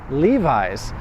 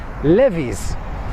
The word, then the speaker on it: Levi's: key word here is Levi's why Levi's because in Poland you'll hear very often people pronounce it as Livi's I'm doing my friend